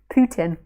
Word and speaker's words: Putin: okay that did it andy putin i think i said it right right putin he's a poo and a tin he's a poo in a tin that's it very good